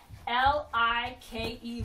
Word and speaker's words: like: L-I-K-E, like. And like has a silent E at the end. Like has a silent E at the end. It's making that I say I.